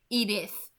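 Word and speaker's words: Edythe: Okay, I don't know how to pronounce that differently. It's Edith, obviously, so I'm just gonna continue pronouncing it, but I don't know. Like it's obviously pronounced the same way, but it's spelled differently,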